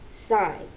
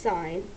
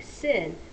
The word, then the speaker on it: sine: short that looks like sin but we do not pronounce it sin we pronounce it sign so whenever you see